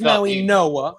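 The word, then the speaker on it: Mauigoa: Well, it's Francis Maui Noah. It's Francis Maui Noah. Noah. Okay. But I don't know why it's spelled the way it is. I have no idea, but it's apparently I've heard it's Maui Noah.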